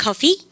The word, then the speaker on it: coffee: 발음 갖다 서 make coffee. F발음 하시면 돼요. F발음은 아랫입술을 깨물 듯 말 듯 안 되면 깨물어서라도 아시죠?